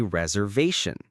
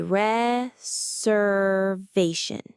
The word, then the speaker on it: reservation: The S has more of a Z sound and the main stress is on the V.